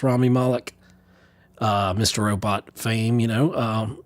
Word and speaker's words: Rami Malek: actor was rami malek I always say it wrong is Rami I want to say Remy Moloch but it's Rami Malek mr.